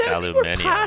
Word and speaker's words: aluminium: that is but it's it's kind of like aluminum like some people just add an extra syllable like aluminium omnicron protocol it's called